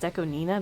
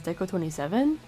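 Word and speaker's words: DECO*27: Pronounced Deco Nina, but everyone says Deco 27?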